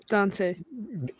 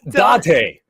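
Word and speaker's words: 伊達: Dante. You're both saying it wrong. No N. How do you go Date and then Dante? It's Date.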